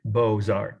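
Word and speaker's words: Beaux-Arts: planet at the time was in Paris called Bozart the school of Bozart that's uh French for beautiful I'll spell it for you if you want to write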